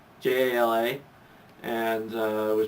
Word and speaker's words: Jala: was first introduced in lego it was spelled j-a-l-a j-a-l-a and uh it was pronounced jala or i used to think it was jayla but apparently it was jala and then when